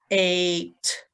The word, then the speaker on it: ate: It changes the sound of the vowel. Like magic, it becomes an A sound. So this would be A, t, and the E at the end is silent. The A and the E go together, and that makes the A sound.